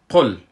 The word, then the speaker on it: قل: پیش ما نگیره و گفتیم که قاف از جمله حروف استعلاس یعنی حروف است که پر تلفظ میشه و لام حرکت سکون است، حرکت نداره. وقتی که ما میخوانیم میره باید بگوییم قل قل قل استاد شیم سرش امرای